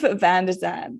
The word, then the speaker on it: Van de Zandt: say as well you actually have the most phonetically pleasing name to say ever really vzan VZ am I saying it right first